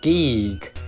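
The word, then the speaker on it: Giegue: Maria remembers some mysterious things then about Geeg. That's how it's pronounced in the Japanese version. They tried to get the spelling so it had the same pronunciation, but looks sort of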